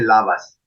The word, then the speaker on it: Labas: bien para decir hola se dice lavas también es fácil así como lavas quizás imaginamos as se escribe con b no con v pero imaginamos